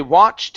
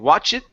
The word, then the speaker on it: watched: They watched in awe. They watched in awe. Okay, so watch here, instead of saying watch it, the word is watched.